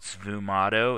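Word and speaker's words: sfumato: style of painting here and it was called SVU motto it's spelled s-f-u-m-a-t-o and it stands for Smoky technique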